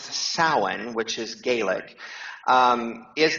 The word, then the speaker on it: Samhain: a m ha a i n but it's pronounced saan which is Gaelic um is the height of